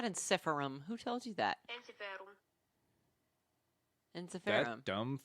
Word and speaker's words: Ensiferum: a little bit okay is there an English person that's kind of like ensiferum like how I would say it right it's a roll of the tongue on the end of that okay and this is